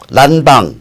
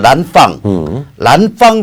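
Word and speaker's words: 蘭芳: 그 다음에 꽃박자 그래서 란방 그러니까 우리 지금 발음은 란팡 공화국을 만들어서 그 공화국이 100년 넘게 이어져요.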